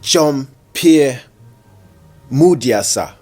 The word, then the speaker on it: Jean-Pierre Mudiasa: a lot of I.T ideas and Innovations Mr John Pierre mudyasa did I pronounce it well yeah yeah Mr jump here